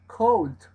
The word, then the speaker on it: cold: Esa O que aparece en el diccionario, esta de acá, es O. Con la U muy relajada, muy abierta. Cold. Entonces, cold. Cold. ¿Sí? Que es la pronunciación más norteamericana.